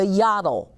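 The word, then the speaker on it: yottle: up with oh yeah the yaddle but it rhymes with bottle so look what he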